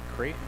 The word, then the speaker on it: Creighton: Creighton, just like Creighton University, that's how it's spelled, Raylan Creighton.